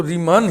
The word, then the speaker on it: Riemann: कि एनिस्टन का उच्चारण नहीं होना है ए साइलेंट तो हम सिर्फ रीमा बोलेंगे लेकिन ज्यादातर आफ थिस ज्यादातर प्रोफेसर ज्यादातर लोग इसको रीमान ही पड़ते हैं तो हमने भी हिंदी में